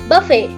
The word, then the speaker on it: buffet: Buffet. Buffet. All right. Okay. So you're both correct. This word can either be pronounced as buffet or it can be pronounced as buffet. Both are correct pronunciations.